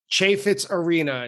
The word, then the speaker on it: Chaifetz Arena: And that Limb by Limb is from August 28th, 2012 at, I recently learned, Chaifetz Arena is how you pronounce the venue in St.